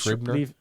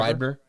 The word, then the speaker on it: Schreiber: Schreiber? Liev Schreiber. Schreiber.